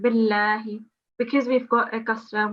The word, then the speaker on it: بالله: So just before we continue on the surah, you've made a thick sound on the Lamu Jalala. It's just a thin sound, billahi.